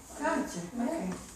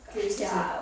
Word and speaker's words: Kaatje: Kaatje, okay. Kaatje, if you pronounce in English it's like Kaatje or something, they make it Okay. a bit funny.